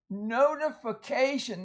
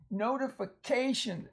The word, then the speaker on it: notification: Notice these two long vowels, O and A. Notification. Again, they're in open syllables. They're the vowel at the end of the syllable, so it's going to be long, generally.